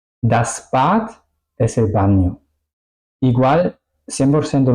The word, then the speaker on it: Bad: Por ejemplo, la palabra Bad es una palabra de una sílaba. Bad. ¿Ok? Pues la A está adentro de la sílaba, es decir, la regla que hemos escuchado hace un momento dice que se tendría que pronunciar corta, bat, pero eso no es la pronunciación correcta es bad.